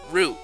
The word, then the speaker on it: route: And I know I pronounced it in a very Canadian-ish accent. Rote. Because, actually, yeah, I used to pronounce it route for a time. And then... like most people I know, pronounce it root. So, I guess that's kind of my way of meeting down the middle. Saying it like rope.